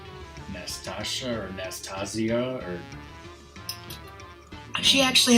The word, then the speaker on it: Nastasia: just assumed it was Natasha. Yeah, it's like Nastasha. Like there's an extra S. Like nasty. There you go. Is it Nastasia? Nastasia? Yeah, like Nastasha or Nastasia or.